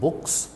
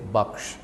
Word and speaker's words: बख्श: नाउ इसको don't pronounce it बुक्स, से बख्श।